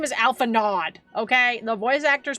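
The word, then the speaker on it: Alphinaud: His name is Alpha Nod. Okay, the voice actors pronounced it so. His name is Alpha Nod. Get out of here with your French pronunciations.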